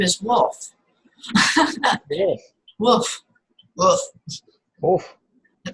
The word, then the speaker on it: Wolf: It's like a V. You know, you would say wolf. You know, Uh-huh. it's a V. Wolf. Because we Wolf. pronounced the V like a W. Right. Yes. Yes. Wolf. Or the W like a V.